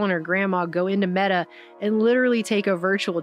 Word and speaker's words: Meta: media, #facebookdead, because apparently the word meta is pronounced like the feminine form of the Hebrew word for dead, and so that was going around the media as well.